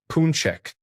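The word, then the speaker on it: pączek: Pax is the singular form pronounced punchek.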